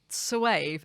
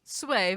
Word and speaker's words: Soave: plummy virgins who'd only come for the free Soave.